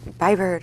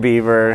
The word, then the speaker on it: Bieber: for you know justin biber to like oh justin bieber is how you say it i don't even know